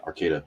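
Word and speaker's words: Arcata: miles south of the Oregon border I mean Arcada now you know how to pronounce it everybody pronounces it wrong they call Ara Arcada yeah Arcada it's a about 10 miles north of Eureka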